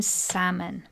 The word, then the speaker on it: salmon: p in receip and the silent l in Salmon to reflect their Latin roots